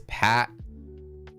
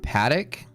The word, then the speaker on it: Patek: It's Patak, not Paddock.